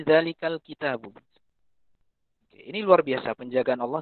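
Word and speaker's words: ذَٰلِكَ الْكِتَابُ: Dari zalikal kitabu menjadi zalikil kitabu. Itu orang tahu kalau itu salah. Ya, bahkan Anda pun mungkin tahu kalau itu salah, ya. Salah orang bacanya alif lam mim. Zalikil kitabu. Anda tahu itu salah itu. Itu bukan zalikil, tapi zalikal kitabu.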